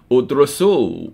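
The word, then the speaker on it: ادرسوا: And it becomes udrusu, with a silent aleph, if it's for a group of people.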